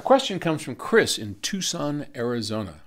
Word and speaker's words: Tucson: comes from Chris in Tucson Arizona I always read that it's tuckson but I know it's Tucson I'm not supposed to pronounce the C would you explain what